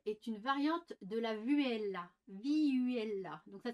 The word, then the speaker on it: vihuela: N'oubliez jamais que la viole est une variante de la vihuela. Vihuela. Donc ça s'écrit V-I-H-U-E-L-A.